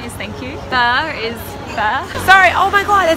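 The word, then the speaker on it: phở: So it's actually pronounced from a local.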